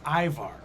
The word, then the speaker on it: Ivar: Aimar's Viking pronunciation is Ivar.